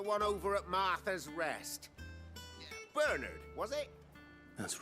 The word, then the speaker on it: Bernard: I've always heard that name pronounced as Bernard, but now it's Bernard.